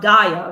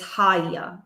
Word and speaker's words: Haya: Well, the lesson that Gaia teaches us, it's not Gaia, right? It is Haya. So you don't say Gaia, you say Haya.